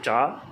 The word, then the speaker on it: Tsav: Mon prénom Hmong, c'est Cha, qui s'écrit TSAV, tout chaud, tout A, tout qui va, tout V. Qui cha qui column sinh ya qui ya qui nichon